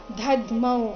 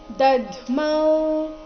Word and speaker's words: ದದ್ಮೌ: ವಿನದ್ಯೋಚೈಶ್ ಈ ರೀತಿ ಶಂಖದಮೌ ಇಲ್ಲಿ ದದ್ಮೌ ಮೊದಲು ಪೂರ್ತಿ ದ ಅದರ ನಂತರ ಅರ್ಧ ದ ಮತ್ತೆ ಪೂರ್ತಿ ಮೌ ಇದೆ ಗಡಿಬಿಡಿಯಲ್ಲಿ ಬಾಯಿಂದ ದದ್ಮೌ ಅಂತ ಬರಬಹುದು ಬಟ್ ಅದು ತಪ್ಪಾಗಿದೆ ಸರಿಯಾಗಿದೆ ಉಚ್ಚಾರಣೆ ದದ್ಮೌ ಈ ರೀತಿ ಮೌ ದೀರ್ಘ ಬಂದು ಅದರ ಮೇಲೆ ಆಘಾತ ಬರಬೇಕು ಮುಂದೆ ಪ್ರತಾಪ ಪ್ರ ಬಂದಿದೆ